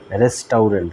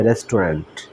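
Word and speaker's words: restaurant: উচ্চারণ অনুসারে করলে বানানের উচ্চারণ অনুসারে করলে হয় রেস্টাউরেন্ট কিন্তু এটার উচ্চারণ হবে রেস্টুরেন্ট তো রেস্টুরেন্ট অর্থ হচ্ছে রেস্তরা বা ভোজনশালা তারপরে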